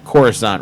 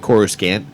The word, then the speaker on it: Coruscant: Of course, I pronounced Coruscant wrong for years. I used to pronounce it Coruscant. Yeah, Coruscant. And I think Coruscant. It was on an audio. There was a book audio where they said it like that, so I just assumed that's what it was.